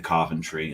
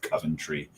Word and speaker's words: Coventry: didn't really get into centry and that's pronouncing it properly centry not Coventry right um if you're